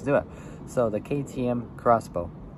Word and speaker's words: X-Bow: it so the KTM crossbow the KTM Expo which is pronounced crossbow is an ultralight sports